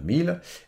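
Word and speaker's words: Miele: Par exemple, Delon a essayé d'acheter un four de marque 1000, bon je le prononce à l'allemande, 1000, et son dossier a été refusé.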